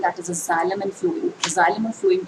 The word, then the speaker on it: xylem: चलिए आज हम बहुत इंपॉर्टेंट टॉपिक करते हैं, that is जाइलम and phloem.